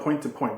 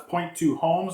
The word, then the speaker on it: point2homes: I always call it point to point, but it's not. It's point2homes.